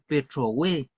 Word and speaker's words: Petrohue: Y en el sur, la partícula hue va acentuada, por ejemplo, en los saltos del Petrohue.